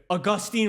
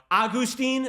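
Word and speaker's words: Agustín: Dude, Augustine Ramirez right now. Agustin. Okay, Agustin. Thank you, Molly. Where's that accento? Agustin. No, the accent's on the I.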